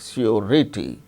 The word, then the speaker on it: surety: But r sound is pronounced when it is followed by a vowel sound, as in the case of surety, surety, surety, RITY, rity. So, r sound is followed by a vowel sound E. So, r is pronounced surety.